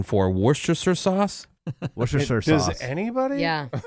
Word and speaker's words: Worcestershire: That's spelled that way and then just sure at the end. So Worcestershire. Worcestershire, yeah.